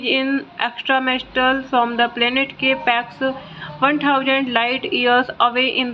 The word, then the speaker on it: K-PAX: After claiming he is in extraterrestrial from the planet Capax, 1000 light years away in the Lyra constellation, thought not capitalized and pronounced with a long O rhyming with bot, is committed to the Psychiatric Institute of Manhattan.